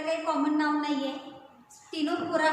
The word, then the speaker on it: Ctenophora: Spelling C पासून आहे परंतु उच्चार करताना टी पासून करायचा आहे. फायलम टिनोफोरा 3 नंबरचा फायलम आहे.